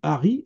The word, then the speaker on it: Allery: est lié à aler ça c'est aler ça s'écrit a 2 l e r y euh en dans l'ouest de la Somme il y a deux villages qui s'appellent Harry en picard aler ça se dit Harry et il y a